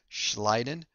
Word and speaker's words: Schleiden: I always remember this as schleiden, you slid or you slide on the grass.